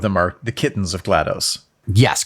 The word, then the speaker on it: GLaDOS: are their names so the mother is GLaDOS and they're all hard G names and they're all based off of nerdy things because the other four of them are the kittens of GLaDOS yes correct yeah so